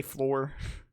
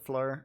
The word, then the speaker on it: Floor: dress, you know, under I always pronounce her name wrong. I say Floor. But I'm pretty sure it's pronounced like Fleur or something. And if I'm wrong on it, you can let me know.